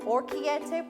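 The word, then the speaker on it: orecchiette: right here we go everybody this is called orchiette pasta which i learned the correct pronunciation of it with sausage it calls for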